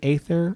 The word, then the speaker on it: Aether: but I know it's Aether, but whatever. Honestly. It's fine. Anybody really care? I bet you there's some people out there who really care. I bet you people care. And I get that. Say it right. But whatever. It's hard when you're reading a lot of stuff and you see the A first. Your mind just says Aetherwind. Okay. It is Aether, though.